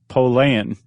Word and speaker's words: Pollan: Do you know how to pronounce his name correctly? No. Pollan. We'll just say that just to keep it from getting confusing. Okay.